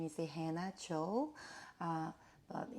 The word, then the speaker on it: Hannah: My name is Hannah Cho, but she called me like Anna, but here in Korea we pronounce like a Hanna, but in American way, call me like Hannah.